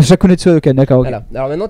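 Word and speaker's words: Shakunetsu Hadoken: pas à le prononcer donc c'est pas gen metsoso adoken bais la gueule je suis désolé c'est c'est shakunetsu adoken shakunetsu adoken d'accord ok voà alors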